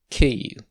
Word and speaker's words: Київ: this is the ukrainska name and it is pronounced kei now for the historical significance when ukraine was